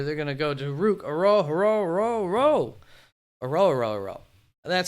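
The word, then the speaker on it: Ruke Orhorhoro: They're going to go to Rook Aro. That's how it is pronounced.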